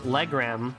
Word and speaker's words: Legram: No, Gaius pronounced it as Legram, so I'm going with that. L-E-Gram, like the measurement.